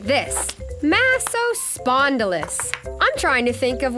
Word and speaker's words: Massospondylus: You say it like this, Massospondylus.